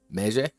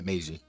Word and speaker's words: Meiji: Meje? What's the correct pronunciation? I don't know fucking Japanese. Meiji? Yeah, Meiji.